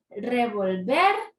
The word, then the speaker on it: revolver: horchata antes de servirla Cuál es la sílaba tónica de Revolver ver y eso está sencilla porque la clasificación es aguda y porque es aguda porque la sílaba tónica es la última sílaba por eso marcamos aquí